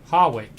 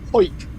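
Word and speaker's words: Hawick: Harwick. No. It's a place just north of Newcastle on the Scottish Yeah, borders, it is Harwick. and it's pronounced Hoik.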